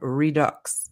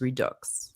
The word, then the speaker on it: Redux: As a French person, Oh. I do pronounce the X in redux. So I was pronouncing it wrong. It is redux, right?